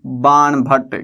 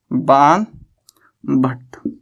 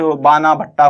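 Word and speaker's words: बाणभट्ट: क्या नाम था, ये भी फेमस पोइट था अपने टाइम का, बाण भट्ट। देखो स्पेलिंग अगर आप पढ़ने लगोगे तो आप कुछ बाना भट्टा पता नहीं क्या क्या पढ़ लोगे इसको, ये बाण भट्ट है।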